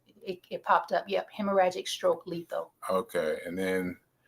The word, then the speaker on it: hemorrhagic: The second of which was was a heragic stroke. Hemorrhagic.